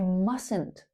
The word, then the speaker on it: mustn't: I mustn't. Mustn't. Notice how that T in the middle is silent. We say mustn't not mustn't.